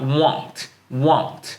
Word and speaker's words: won't: 그래서 want가 아니라 won't 이렇게 발음하시면 돼요. 저는 일반적으로 좀 이렇게 추천해드려요. 그냥 won't. 원래 W를 쓸 때는요 이 발음을 하셔야 되는데 won't. 천천히 발음하면 won't가 되지만 이걸 좀 짧게 빠르게 발음하면 won't가 됩니다. 그래서 나의 영어는 더 늘진 않을 거야.